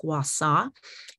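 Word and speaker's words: gua sha: and for those of you not familiar with gwasa it's basically um i use it as a facial massage technique using a small jade stone it's spelled g-u-a-s-h-a by pronounced guassaw and um helichrysum is a wonderful addition to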